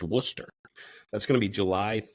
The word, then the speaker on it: Worcester: that's in Worcester Massachusetts spelled exactly like that brown sauce that everybody likes pronounced Worcester that's going to be July 13th 11: to 6 that's 11:00 a.m.